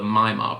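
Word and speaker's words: Maillard: apply heat but specifically this thing is called the mymar process but it's spelled m-a-i-l-l-a-r-d and blingery had this and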